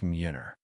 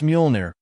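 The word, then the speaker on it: Mjolnir: So trust me, you'll be able to lift Muner. It's Muolnir, Darcy whispered. I learned how to say it.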